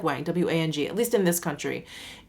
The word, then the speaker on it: Wang: always pronounce it wrong they see the a and they pronounce it the like I I don't know what the phonetic term is it's like a soft long a anyway my last name is pronounced Wang spelled W a ng o